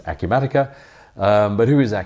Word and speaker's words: Acumatica: in the UK and nobody knows who a Q Medicare is or even how to say the word so we've discovered it's a Q matica but who is a